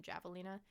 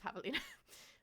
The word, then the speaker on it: Javelina: I mispronounced the J in the beginning, and I called them Javelina, and because I thought like javelin. I was like, oh, that's a great name, but it was Javelina.